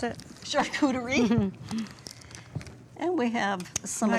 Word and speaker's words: charcuterie: Tell me again how you pronounce it. Charcuterie.